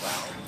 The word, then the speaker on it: we: And well, that's us. Wij. Wij. And wij also has an unstressed form. We. we. Please note, we write it the same as English, but the pronunciation is totally different.